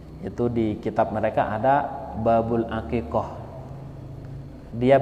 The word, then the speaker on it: Babul Aqiqoh: baru ngaji ya itu di kitab mereka ada Babul aqiqoh dia bacanya Babul aqiqah hakekat itu bahasa Madura tengkar sehingga bacaan-bacaan yang